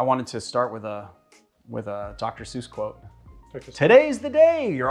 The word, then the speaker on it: Dr. Seuss: You know, you're supposed to pronounce his name Dr. Seuss.